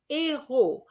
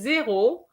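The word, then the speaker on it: héros: and heroes is de ero be careful with this one if you say zero i understand number zeros you're giving me a few zeros and that is going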